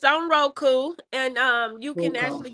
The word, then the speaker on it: Roku: And you forgot to tell us where it's on Ruko. Yeah, it's on Roku, and you can Ruko.